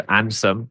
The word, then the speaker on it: Andsom: So if you imagine, for those listening, it's handsome without the H and without the E. So Ansom.